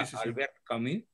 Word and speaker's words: Albert Camus: Hay un gran autor francés, Albert Camus, se escribe, se pronuncia Albert Camus, que escribe una novela